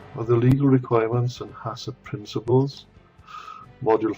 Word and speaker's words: HACCP: principles of HACCP, and that's how you pronounce it, is HACCP, although there's no A after the second C before P.